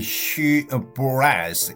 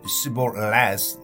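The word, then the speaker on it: shibboleth: If he answered, "No, they would ask him to say she brass." If he said she leas, not pronouncing it exactly right, they would seize him and kill him at the forge of the Jordan.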